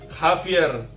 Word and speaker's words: Javier: Javier. Javier, ya, Jota. Sama dari tenggorokan. Berikutnya ada K. Bahasa Spanyolnya pronounce KA.